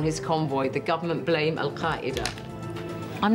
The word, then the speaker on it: Al-Qaeda: And you can see that you have the authentic pronunciation for Al-Qaeda, because, of course, my family speak Arabic. Al-Qaeda. It's not easy to say, even in Arabic.